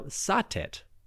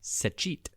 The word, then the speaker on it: Satet: Now Sateet or more accurately pronounced Sich was a goddess of the south.